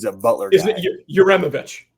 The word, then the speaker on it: Uremovich: We brought in Coach U from I can't pronounce his last name yet, but he's a Butler guy. Isn't it Uremovich?